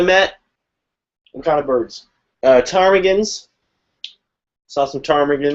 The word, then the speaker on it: ptarmigan: Ptarmigans. Saw some ptarmigans. Ptarmigans are amongst my favorite kinds of birds that have a silent P in their name.